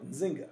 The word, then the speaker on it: Nzinga: fight against slavery was Queen njinga nzinga right um and and I'm not sure the I've heard the both pronunciations so I say them both um what you saw